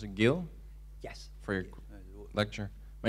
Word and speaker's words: Gil: Should I pronounce it Gil?